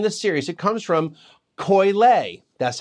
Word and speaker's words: Koyle: third wine in this series it comes from Coyle that's how it's pronounced not coil they are located in the San Fernando Deo